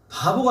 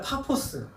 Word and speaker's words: 파포스: 그래서 바보가 아니라 파포스. 우리나라 성경은 바보라고 읽을 때마다 좀 웃겨요.